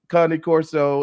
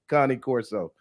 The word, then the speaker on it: Cane Corso: Arkansas and you pronounce Connie Corso is not Kane it's not Kanye it's not King it's Connie Corso all right yeah yeah